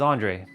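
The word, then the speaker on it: Andray: ] famous around here my name bro is Andre I my mom gave me that name a n d r a y it's spelled differently from your a and D's r e versions but it's Andre so yeah um basically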